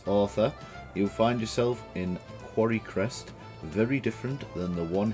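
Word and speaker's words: Quarrycrest: through the last episode i was pronouncing this place as quarry quest but it's actually quarry crest so apologies if that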